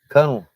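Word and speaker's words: Kuhnle: How do you pronounce that? Cunnel.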